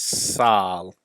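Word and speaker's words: sâl: The Welsh word for being sick is sal. Sal. And it's spelled S-A-L.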